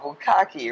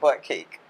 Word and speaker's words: Bukkake: All of this time, I thought it was pronounced butt cake.